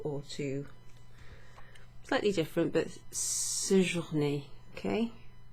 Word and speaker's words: séjourner: Slightly different, but séjourner, okay? with a little accent over the E, which makes it an A sound, an E, séjourner.